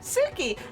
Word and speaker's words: Suki: Suki, you sound like, you know, Suki, like the word like in Japanese.